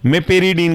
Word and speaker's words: meperidine: इसे हम बोलते हैं मेपेरिडीन के नाम से भी जानते हैं।